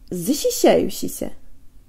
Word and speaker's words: защищающийся: Now, with as little movement away from the E position as possible, let's build backwards. E. Shisha. E. Yushisha. E. Shayushisha. E. Shishayushisha. E. Zishishayushisha. Zishishayushisha.